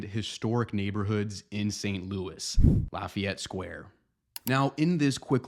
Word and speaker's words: Lafayette: people would pronounce it Lafayette as the correct French pronunciation however in St Louis you'll notice that people here say it more like Lafayette Lafayette Square so if you